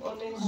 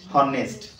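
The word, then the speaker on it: honest: রুলের কারণ হবে যদি ও পূর্ব তবে তাহা সাইলেন্ট হয়ে এভাবে পড়ো এই ওয়ার্ড অনেস্ট অনেস্ট অনেস্ট আগর কোন পড়ছিল হনেস্ট ক্ষেত্রে যেন হনেস্ট পড়তে হবে ইট ইজ হাওয়ার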